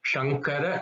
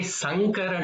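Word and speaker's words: शङ्कर: So because if you say sa, it could change the meaning. So for example, if you say Shankara Namostute, it means I bow down to Shankara, I bow down to Shiva.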